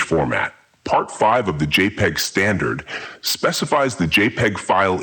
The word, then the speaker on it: JPEG: a relatively small size the name jpeg is pronounced jpeg JPEG files can be identified by their file